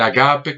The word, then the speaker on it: ágape: en el extremo o el ágape como se pronuncia en griego en el extremo es